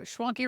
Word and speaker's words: Schwanke: Schwanke rhymes with donkey.